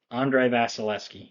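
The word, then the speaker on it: Andrei Vasilevskiy: they they're they're a solid team all around Andre vasileski yeah that's how you pronounce it they're a solid team all around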